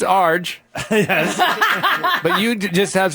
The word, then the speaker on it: Arj: You pronounce Melbourne incorrectly. It's Melbourne. Melbourne. They It's didn't know that. Melbourne, Yeah. and it's Arj.